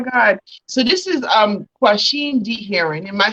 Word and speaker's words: Quasheem D. Herring: god oh my god so this is um question d heron am i saying your name right you are